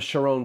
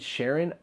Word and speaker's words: Sharon: way but it's Samson the next one the sure own plane like why I said Sharon I really don't know because I do know